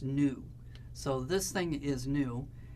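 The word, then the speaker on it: ν: but it's not so it's a Greek letter kind of like a V and it's pronounced new so this thing is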